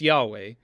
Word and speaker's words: Yahweh: YHWH, with the vowels, and that would have been pronounced Yahweh, but it's given the